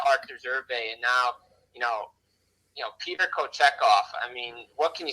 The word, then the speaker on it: Kochetkov: But the guy that's been really impressing me, Jim, has been this Pyotr, I think he pronounces his name, Kochetkov, who is 7-0-1 in the month of December, was named goalie of the month.